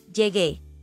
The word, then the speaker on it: llegué: Llegué. Llegaste. Llegó. Llegó. Again, notice there's a change in the yo form from G to GU before E to preserve the hard G or G sound.